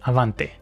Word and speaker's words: Avante: If I got it correctly, Avante means ahead in Spanish and pronounced Avante.